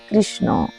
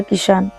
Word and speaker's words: কৃষ্ণ: তার নামও কিন্তু বাঁকা একেক অঞ্চলে কৃষ্ণ নামকে বিভিন্নভাবে উচ্চারণ করা হয় যেমন বাংলায় আমরা কি বলি কৃষ্ণ হিন্দিতে আবার কি বলে কৃষ্ণ আবার বজভাষা বলে কিশান।